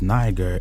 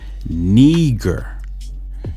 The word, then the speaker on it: Niger: It says niger, but it says it's not pronounced niger. Its pronunciation is neger. It says it's of Latin origin. It means black.